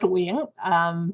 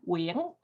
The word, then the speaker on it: Nguyen: It's actually pronounced Nguyen, for anyone who's curious on how to pronounce it properly in Vietnamese. I'll say it again, Nguyen. But if you say, that's pretty close and close.